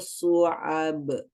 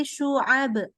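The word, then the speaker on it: شعب: Intaliqu ila dhillin dhi salasi su'ab. Masih dibacanya su. Masih su. Shu. Salasi syu'ab. Salasi su'ab. Masih ke sin. Lagi. Shu, bukan su. Shu. Ya, pakai tengah lidahnya. Salasi syu'ab.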